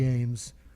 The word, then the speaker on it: Eames: It's pronounced Eames.